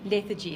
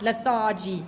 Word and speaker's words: lethargy: i feel lethargic okay the abstract noun is lethargy lethargy that's how you pronounce it not lethargy please okay lethargy okay